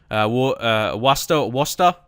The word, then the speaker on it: Worcester: Worcester? Is that how you say their name? Yeah, Worcester.